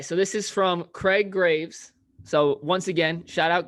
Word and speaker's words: Graves: But, quote, most Graves in Texas pronounce the name with the first E silent, i.e. Graves. But I have kinfolk that pronounce it the way Alex did on the podcast, Greaves.